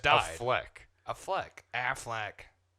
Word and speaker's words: Affleck: a Fleck. People pronounce it like that. Is that like a joke? Like the fucking duck, Affleck.